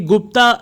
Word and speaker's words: गुप्त: Not belong to द गुप्त period. ये गुप्ता यहाँ पे प्रोनाउंसिएशन हो रहा है, पर गुप्त काल ही कहते हैं इसको, ठीक है, ध्यान से सुनिएगा।